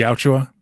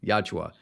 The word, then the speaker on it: Yautja: The Yautja. Yautja.